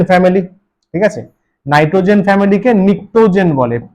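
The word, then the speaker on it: pnictogen: নাইট্রোজেন ফ্যামিলিকে নিক্টোজেন বলে। পি এন I city নিটোজেন। পিটা উচ্চারণ হয় না।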